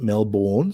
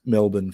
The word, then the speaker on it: Melbourne: those who don't know americans pronounce it melbourne so if you're confused it's melbourne for the americans melbourne for the for the rest of us so let's have